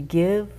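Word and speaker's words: Gyve: As we give, we shall receive.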